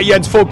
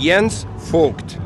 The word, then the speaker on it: Jens Voigt: Well, apparently I am Sir Jens Voigt nowadays because I'm working in TV now. No, it's my mom who would call me Jens Voigt.